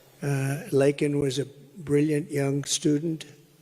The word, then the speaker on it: Laken: lak Riley you know Laken very well now and after months of prodding him Biden couldn't pronounced her name he said uh he said Lincoln Lincoln Riley and Lincoln Riley is the football coach the coach and uh